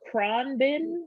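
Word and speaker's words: Khruangbin: that's another laid-back artist that i like uh kron bin that's how you pronounce that one they just came out with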